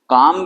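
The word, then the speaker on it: calm: काम लि तो हम काम को हम सीधे काम ऐसे नहीं लिख रहे हैं काम ऐसे नहीं लिख रहे यहां पर काम का मतलब कालम ऐसे इसको अब इसमें ये लॉ एक्स्ट्रा है ये साइलेंट है इसमें जो कि इसकी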